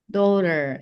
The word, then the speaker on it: daughter: And then Azamer daughter. Yes. Boleh pakai boleh pakai R-nya kalau mau American.